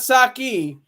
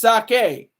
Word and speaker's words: sake: It's not sake, it's sake. Just to let you know, it's sake.